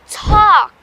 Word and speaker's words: talk: هذو زوج الكلمات talk walk بزاف الناس ينطقوهم بالال and that is wrong يا ليكيب. ال نحيوها خلاص نساوها. We say talk walk. I wanna talk. I wanna walk. الال ما نطقوهاش.